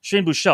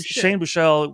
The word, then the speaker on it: Buechele: Shane, I always pronounce his name. You might know Shane Buechele, like Bobby Boucher, right? But Boucher. Shane Buechele went out there with over 100 yards passing on the game.